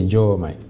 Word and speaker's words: Diomaye: prononciation normale c'est Diomaye bon c'est difficile aussi